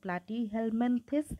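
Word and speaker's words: Platyhelminthes: তো ফাইলাম অলরেডি আমরা শিখে ফেললাম যে ফাইলাম হচ্ছে প্লাটি হেলমেন্থেস। উচ্চারণটা সঠিক করবা। তাহলে তোমার বানানটা ভুল হবে না। প্রথমে দেখো প্লা টি হেলমেন্থেস প্লাটিহেলমেন্থেস তাহলে তোমার বানান একদম সঠিক হবে।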